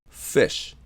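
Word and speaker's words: ghoti: It's pronounced "fish," which means "fish."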